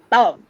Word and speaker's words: above: So words like above, above, right? We are putting all the emphasis on the second half.